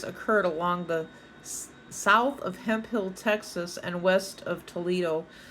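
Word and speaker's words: Hemphill: Mrs hemp Hill but it looks like hemp Phil h m p h i l l hemp Hill Texas that's how we re we pronounced it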